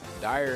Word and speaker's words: Dyr: It's spelled a little different, but it sounds the same.